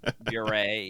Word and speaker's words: Bure: Puree, yeah. Puree. I always say it Bure. rhymes with puree.